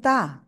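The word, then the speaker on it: ط: যাই হ্যাঁ ওকে তাহলে ত অক্ষরটা কি হবে জিহ্বার আগে উপরে দুই দাঁতের গোড়ায় লাগাবো লাগিয়ে একটু মোটা আওয়াজে উচ্চারণ করব ত ত এক আলিফ টান হবে সবাই জোরে জোরে পড়েন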